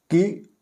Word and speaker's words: कि: में अंतर स्पष्ट करेंगे कुछ बच्चे इनके प्रयोग में अशुद्धि कर देते हैं कि इसमें आप देखि क के साथ हरष यानी छोटे ई की मात्रा है इसलिए इसका उच्चारण थोड़ा हल्का है की और इस की